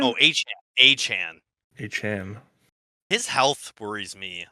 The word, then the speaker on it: Achane: Devon Achane? Oh, Achane.